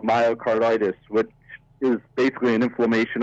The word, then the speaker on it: myocarditis: my car how do you say it again myocarditis is what it's called and it's an inflammation